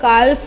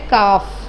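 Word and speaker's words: calf: ठीक है, हम लोग काल्फ भी नहीं बोलते, हम लोग क्या बोलते हैं? काफ।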